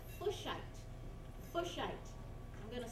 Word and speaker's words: Fuchsite: Fuchsite. I'm going to spell that because it's an interesting sound, right?